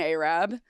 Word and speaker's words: Arab: Pronounced Arab.